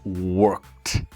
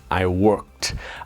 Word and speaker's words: worked: I worked. I know you can see the ED and you want to pronounce the ED, but I promise you it's I worked.